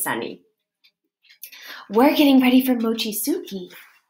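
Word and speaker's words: mochitsuki: it mostly stays sunny we're getting ready for Mochizuki mochi Sookie I pronounced it slowly-slowly for her because she was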